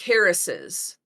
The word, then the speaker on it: Harris's: way we pronounce it we make that s sound twice when we say it like Harris's I would not if